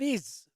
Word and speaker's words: Ix: The board game Dune Imperium begins a new chapter with Rise of Iz. I think that's how it's pronounced. It's IX, but I think it's Iz.